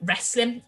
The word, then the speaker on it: wrestling: front of it and that w is silent okay so that w